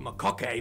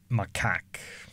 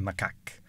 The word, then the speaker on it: macaque: most common mistake right we find a long-tailed makake monkeys just just for the record these are actually pronounced macaque monkeys i'm not how they're pronouncing i i searched up it's actually macaque they're not saying that because reasons if you're